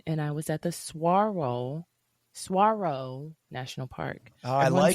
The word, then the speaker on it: Saguaro: It was my first time in Tucson, and I was at the Saguaro National Park.